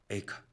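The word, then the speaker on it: איכה: 한글로는 성경이 에가지 않습니까 히브리어 단어로는 거의 발음이 같습니다 카입니다 에카 에카 그러니까 에가 에르미아 가의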